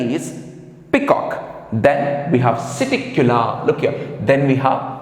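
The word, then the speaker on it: Psittacula: P we have Siticula. P is silent there. Siticula, that is parrot.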